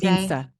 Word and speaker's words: Vinz: is your last name said pronounced Vince or Vince? Vinsa.